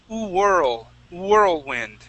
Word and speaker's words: whirlwind: Now, with the word whirl, we're going to start off with an oo sound. Okay, instead of a V saying v, whirl, we say oo, whirl, whirlwind.